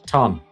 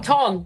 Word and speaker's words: TON: No, not Tron. Ton. Oh, Ton. The other one.